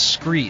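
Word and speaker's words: Skre: And my favorite and my proven gear is Scree. Scree is spelled S-K-R-E.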